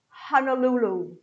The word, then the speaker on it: Honolulu: And because of Hawaii, I thought of Honolulu, Honolulu, Honolulu. Lulu, very long, all right?